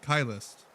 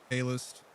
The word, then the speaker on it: Kylist: Kylist. But a lot of people say or Calist. Some say, but they're just they're the most wrong.